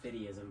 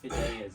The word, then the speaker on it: fideism: People pronounce it fideism, but it's fideism.